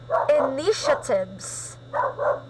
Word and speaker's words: initiatives: this word this is initiatives in initiatives yeah so you will notice the second um so that third syllable that is pronounced as sh sound okay yeah so that